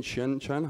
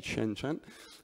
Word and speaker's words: Shenzhen: seeing before xiaomi in Shenzhen hope I pronounced that correctly should be Shenzhen and it's interesting because